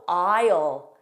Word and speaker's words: aisle: Also aisle, aisle. Silent S, aisle.